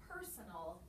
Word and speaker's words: personal: word personal say personal which syllable is my schwa syllable in this word the last one these are any other syllable that doesn't sound like it's spelled the middle one that's right son is another unaccented syllable the accent is on perm and in this word personal we have two syllables that have the schwa sound ok so with the